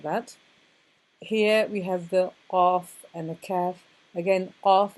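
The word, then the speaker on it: ق: It's at the back, at the top of the throat. And you say qa, qa, and you should be able to hear an echo in the room if you say it correctly.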